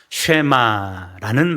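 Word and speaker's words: Shema: 이스라엘아 들으라 라는 말씀으로 시작을 하는데, 여기에서 들으라 라는 히브리식 발음이 뭡니까? 쉐마라는 말입니다.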